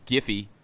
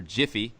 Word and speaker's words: GIPHY: to upload them to to giphy or jiffy depending on how you want to pronounce it for people to go